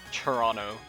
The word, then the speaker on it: Toronto: But like we kind of turn that T into like a ch sound and so it's just Toronto and you like don't pronounce the T's at all. The T's turn turn into like ch's and N's and it's a very